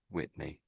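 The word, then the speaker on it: Witney: So, this is a place called Whitney. Whitney. You know Whitney Houston, the singer? So, it's I'm not saying she's from there, but the name sound the same.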